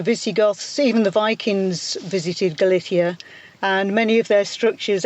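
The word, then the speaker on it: Galiza: And in fact, in Galician, it's Galicia with a Z.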